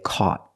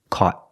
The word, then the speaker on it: caught: the past we say caught the Au makes a sound back here the GH is silent and the t is a stop T caught not caught make a